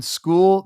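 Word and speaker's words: Skule: go that's the Justin School and it is pronounced school by the way but that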